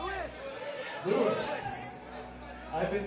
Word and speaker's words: San Luis Obispo: Is it pronounced San Luis Obispo or San Luis Obispo? Luis! Luis! I've been mispronouncing your fair city's name for many years now, and for that, I do apologize.